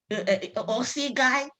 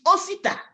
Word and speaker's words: Osita: Osi guy. It's not Osi guy. It's Osita.